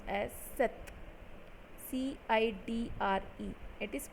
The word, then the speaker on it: cette: CETTE, it is pronounced as Seth.